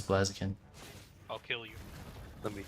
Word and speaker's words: Blaziken: Is it pronounced Blaziken? No, it's Blaziken.